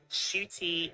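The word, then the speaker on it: Ncuti: head this video like you pronounced my name shooty shoot like a shooting St and then an e on the end shoot and my mom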